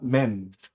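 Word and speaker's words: מם: L 발음을 쓸 때 씁니다. 그 다음에 13번째는 맴이라고 합니다. 맴은 그냥 저는 네모하고 핀 꽂습니다.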